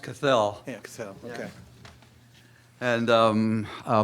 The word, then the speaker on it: Cathell: Dick Cathell, is that? Looks like Cat, I know, but it's pronounced Cathell.